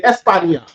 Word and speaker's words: España: They'll say España, even though it's not spelled with a YA. But that sound is still there. That ya in there is to say Spain, ya. Espan, and then ya, España.